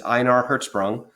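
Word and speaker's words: Ejnar Hertzsprung: in our Hertz so throughout most of the world if you see the letter J you pronounce it like a why so that's INR hertzsprung and the American astronomer Henry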